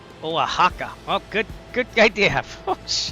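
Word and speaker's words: Oaxaca: Instead, in Spanish, it is pronounced as Oaka. Oahaka.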